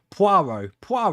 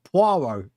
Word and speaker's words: Poirot: Poirot.